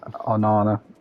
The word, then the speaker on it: Onana: And your new goalkeeper Onana, is that how you pronounce Yeah. his name? Oh no, no, yeah. It's Onana.